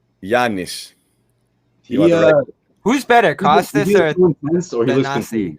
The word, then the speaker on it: Thanasi: Let's give everybody the correct pronunciation on it. Thanasi.